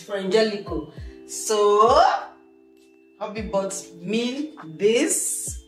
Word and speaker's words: Frangelico: I hope I'm pronouncing it right. Frangelico. Yes, I pronounced it right. It's Frangelico.